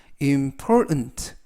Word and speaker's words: important: 발음에 유의하실 것은가 아니라 important 이때 중간 부분에 있는 알파벳 t 모음은 아니지만 발음할 때 발음이 거의 나지 않습니다 그래서라고 발음하시면 되겠고요 즉